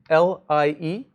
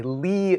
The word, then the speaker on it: Lie: see this word, L-I-E, this is somebody's name. This is a capital L, and it is pronounced L-E-E. This is a Lie group. If I hear any of you guys in my office hours calling it a Lie group, it's going to be a problem.